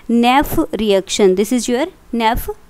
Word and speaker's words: Nef: एक name reaction है, इसको हम बोलते हैं नेफ reaction. This is your नेफ reaction. नेफ reaction क्या मतलब क्या है, NEF, ये स्पेलिंग है नेफ रिएक्शन।